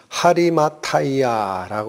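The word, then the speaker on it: Ἁριμαθαία: 어 철자로 돼 있습니다 근데 원래대로 발음을 하면 아리마대 아니고 하리마 아이야라 읽힙니다 하리마 아이야에 그리고 그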